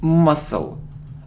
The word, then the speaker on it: muscle: it isn't Maskull no it's muscle we don't pronounce C must it isn't health